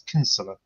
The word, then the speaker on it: Kinsella: quite a common name kidsella I think it's actually I think it's Irish yes and they pronounce it I think the Irish we're not Irish but they pronounce it as kinsella our grandfather was Irish